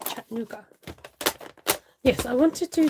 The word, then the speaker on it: Chattanooga: where molly's from chattanooga in tennessee have i pronounced it right chattanooga yes i want to do this in a